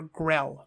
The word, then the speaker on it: Grail: Monty Python and the Holy Grail, or Grell, pronounce it like that, Grell.